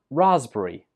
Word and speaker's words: raspberry: The P letter is not pronounced. This word is pronounced raspberry.